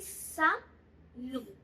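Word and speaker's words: salut: इसको मैं बोलूंगी सैल्यू. सैल्यू. टी की प्रोनाउंसिएशन नहीं होगी, यहाँ पे टी को प्रोनाउंस नहीं किया जाएगा.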